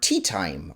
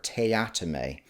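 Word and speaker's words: Teatime: the job a Mr tea time or as he likes to say it's pronounced Mr tatame as this is going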